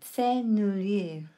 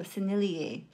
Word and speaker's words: Sennelier: That's how you pronounce it. Sennelier. And what was I saying all throughout this video? Sennelier.